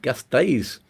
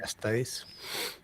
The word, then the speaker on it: Gasteiz: How do you pronounce that? Gasteiz. They've got a different pronunciation set of rules, haven't they, in Basque Country? I don't know how to say them. Yeah, I think Gasteiz.